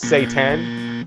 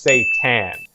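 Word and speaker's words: seitan: Satan actually isn't Satan. It's pronounced Satan.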